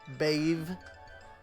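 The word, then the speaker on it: Badb: So I'm going to assume that B-A-D-B follows the same, like, thing, and is actually pronounced, you know, Bave, or something to that effect.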